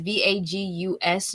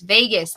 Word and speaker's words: vagus: it right vagus nerve or it's a v-a-g-u-s nerve yeah pain it's vegas yes the vagus nerve okay so i learned